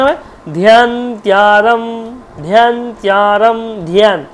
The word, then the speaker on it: ধ্যান: এইবার যখনই উচ্চারণ হয় ধ্যানত্যারম, ধ্যানত্যারম, ধ্যান, আমরা কিন্তু ধ্যান উচ্চারণ করি, ধ্যান, ধ্যান নয় কিন্তু ধ্যান, ধয়ের সাথে জফলা আছে, ধ্যান।